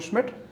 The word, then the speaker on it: Smit: We call you Smith. No, it is pronounced as Smith. Smi.